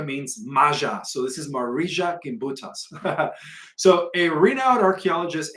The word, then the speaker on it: Marija: So according to Marija Gimbutas, that's spelled Gimbutas, Marija, I think she's Russian. Marija is spelled M-A-R-I-J-A.